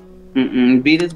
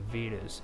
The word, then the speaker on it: Vedas: Vedas Vagasa. How do you spell it?